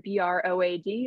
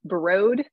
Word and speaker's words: Broad: is just a pro tip uh that word b-r-o-a-d is pronounced broad um that is how you say the research